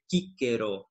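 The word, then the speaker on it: Cicero: Cícero para o grego, em que eles usam o kappa ao invés do sigma, né, e aí a pronúncia ficaria kíkero, né, assim, se fosse com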